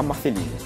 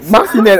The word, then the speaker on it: Marcinelle: La Belgique, retrouvons notre envoyée spéciale Pauline à Marceline. Retrouvons notre envoyée spéciale Pauline à Marceline. Oh merde. C'est trop compliqué à prononcer. Marcinelle.